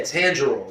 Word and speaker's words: Tanjiro: Tanjiro? Yeah, Tanjiro.